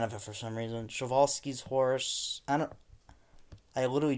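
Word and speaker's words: Przewalski's: not a fan of it for some reason chivalsky's horse I don't I literally just learned how to pronounce Gatos pronounced perzwalki's horse but shavolsky's uh shimitars looks amazing simang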